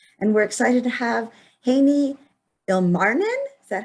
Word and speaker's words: Heini Ilmarinen: and tech podcasts and we're excited to have haney ilmarnin is that how you say it yeah very